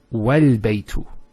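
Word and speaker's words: والبيت: But if there's something before it, let's say a wow, what happens? It's wal-baytu. So this is not pronounced because it's in the middle of a sentence.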